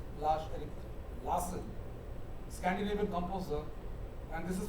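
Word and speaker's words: Lars-Erik Larsson: uh Swedish composer lash Eric lass that's how pronounced lash Eric Lassen Scandinavian composer and this is from scata for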